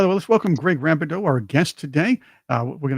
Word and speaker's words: Rabidoux: I hope I have your name pronounced correctly. Rabidoux.